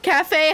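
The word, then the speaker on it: café: And also, you have to put the accent on the cafe, on the E. Otherwise, it's cave. Cafe has an accent.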